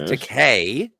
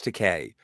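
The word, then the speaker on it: Takei: It's Teay is the last name of George. George Teay.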